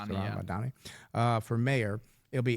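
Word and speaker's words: Zohran Mamdani: Zaran Mdani. Is that how you say it? There's Z Ron Manni. Sorry Madani.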